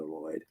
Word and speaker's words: Lloyd: spinning the country oldies on the Lloyd yeah that's that's how they say it the lyd anyway it's named after